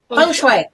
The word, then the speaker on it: feng shui: How do you pronounce it? Feng shui.